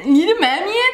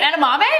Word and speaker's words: edamame: was edaman you mean edamame yeah edamami how do they know what he meant instantly edaman you mean edamame at Walmart stupid as